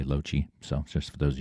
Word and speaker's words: Lochi: It's @ryanlochie, r y a n l o c h i That's how you pronounce my name, by the way, Lochie.